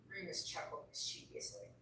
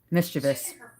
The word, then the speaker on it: mischievous: The two women hit the floor as the lift began to move upward mischievously. Mischievous. I said it wrong. My entire life saying mischievous. It's mischievous.